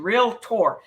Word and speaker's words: realtor: And because you're paying for the low, in order to be a realtor, okay, it's two syllables, real and tor, not realtor. It's realtor. Learn the right pronunciation, realtor.